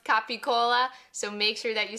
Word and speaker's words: capicola: Its proper Italian pronunciation is capicola, but you might have heard it called gabagool, like in The Sopranos. In any case, it's pronounced capicola, so make sure that you say it the